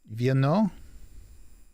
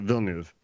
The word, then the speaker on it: Villeneuve: It's Denis Villeneuve. So there's been several race car drivers that pronounce it Villeneuve. Okay. They're all, he doesn't. Same, trust me, I heard him.